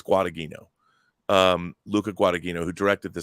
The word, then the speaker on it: Guadagnino: I can't pronounce his last name. Guadagnino. I think it's Guadagnino.